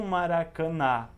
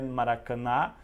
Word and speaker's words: Maracanã: som nasal e não maracana não é ele não é Maracanã Maracanã então esses são nas